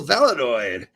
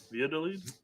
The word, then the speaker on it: Valladolid: as clubs like Real Valladolid. This one always gets Valladolid are eyeing him for free. They're eyeing him. Ooh. For free. Valladolid? Valladolid, yes. I don't think you sound out the L's there.